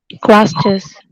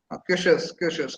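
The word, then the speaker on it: QuEChERS: Quasters. Quashers. It is pronounced as Quashers method.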